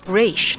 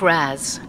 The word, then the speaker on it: Ra's: forth to an almost maddening degree am i pronouncing this right mr raz al ghul al ghul raza ghouls brazil cool race not razz a common mistake how do you say it